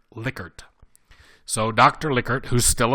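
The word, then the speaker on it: Likert: questions is called licker scale and yes it's pronounced licker not lier licker so Dr licker who's still alive by the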